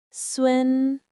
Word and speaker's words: 孙: It is pronounced in the first tone. Repeat after me. Sun, Sun, Sun.